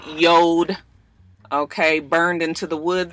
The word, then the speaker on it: Jord: the company name yo even though it's j o r d it is pronounced yod and I know that